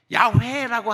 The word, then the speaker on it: 야훼: 그래서 야훼라고 바꿀 수도 없어. 그러니까는 우리는 어떻게 해요? 저는 뭐라고 읽어요? 저는 여호와라고 읽어요. 틀린 줄 알면서 여호와라고 그렇게 읽습니다.